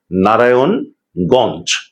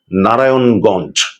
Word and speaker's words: নারায়ণগঞ্জ: একটি অন্তস্থ অ রয়েছে সেটিকে উচ্চারণে আনতে হবে নারায়ণগঞ্জ নারায়ণগঞ্জ এমন করে উচ্চারণ করতে হবে তো আরেকটি মজাদার খাবারের